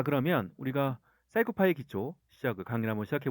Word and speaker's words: PsychoPy: 사이코 파이를 치면 됩니다 제가 처음에 사이코 파이를 사이라고 읽었어요서 어 코피 사이코 해서 사이코가 훨씬 익숙하거든 근데 이제 실제로 정확한 발음은 사이코 파이라고 하더라고요 그죠 자 사이코 파이를